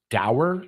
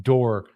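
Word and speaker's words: dour: of this word before dower quarter uh relentlessly severe Stern or gloomy is the definition of that dower door door it's spelled d-o-u-r but it's pronounced door quarter I don't know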